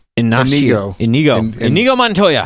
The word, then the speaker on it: Inigo: Indigo. It's not. It's Inigo.